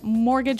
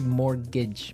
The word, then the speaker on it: mortgage: I mean there's the strange mortgage with a T. Yeah, it has a T in it, but you don't pronounce it, you say mor[t]gage, mor[t]gage.